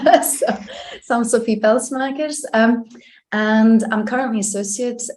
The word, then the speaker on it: Pelsmakers: so by the way it's fantastic you actually pronounced my surname correctly so so Sophie pel smers um and I'm currently associate professor in sustainable